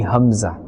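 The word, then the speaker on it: ء: The Hamza or the Alif is pronounced from the bottom part of the throat.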